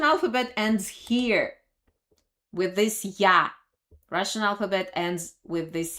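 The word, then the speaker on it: ѧ: Omega Omega this is little use and it's pronounced yah and they were also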